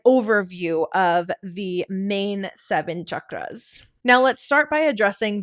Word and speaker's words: chakra: And so you might hear chakra or chakra. And she said the correct pronunciation is chakra.